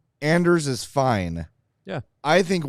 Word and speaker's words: Anders: accepting the American pronunciation or is it actually pronounce Anders for what is worth uh K Kayla of the the pr staff said Anders and said that's what he wants to be